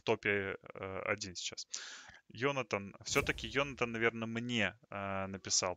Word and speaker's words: Jonathan: Ну, знаешь, Джонатан, он в Америке, а в Германии это Йонатан. Если что. В Германии именно так читается это имя, и здесь оно очень популярно.